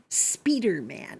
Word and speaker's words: Spider-Man: films well you know the french pronounce it speeder man which always sounds to me like somebody who's driving too fast uh my comic book